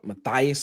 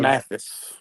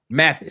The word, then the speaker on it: Mathis: 3-star offensive lineman, Mason Matthias, I think it's his last name. How you say it? 6'6", offensive tackle, 320-pound, from Pace out of Milton, Florida. Just committed to Auburn. What child? That's a Mason Mathis. Mathis, that's it. Mason That's Mathis.